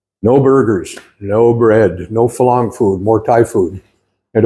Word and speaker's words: Farang: He moved out of here, and he opened a really nice restaurant bar that caters to, well, both Thai and Falang, spelled Farang, pronounced Falang, which is non-foreigners to the tea, or foreigners to the Thais.